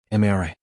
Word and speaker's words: Amara: Amara. 3 syllables.